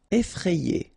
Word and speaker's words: effrayé: Effrayé. Okay, remember, double F, so you open the E, so E, effrayé. And here you get this frayé, effrayé.